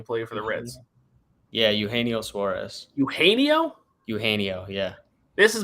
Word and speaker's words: Eugenio: I think Cody Wells chirped me for my pronunciation of Eugenio is how it's pronounced. He used to kill the Cubs when he played for the Reds. Yeah, Eugenio Suarez.